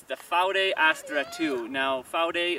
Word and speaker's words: Vaude: up a couple years ago um it's the faude astra ii now four day is the apparently the correct pronunciation of it but it's written v-a-u-d-e vowed for the north americans among us including myself